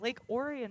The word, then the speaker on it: Orion: She is a senior out of Lake Orion, Michigan.